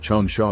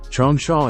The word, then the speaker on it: Changsha: Chong Sha is the pinion romanization of the Mandarin pronunciation of the Chinese name Jong Sha or Jong Sha meaning long sandy place.